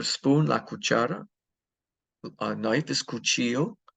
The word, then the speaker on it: cuchillo: Knife is cuchillo. The double L is pronounced like a Y.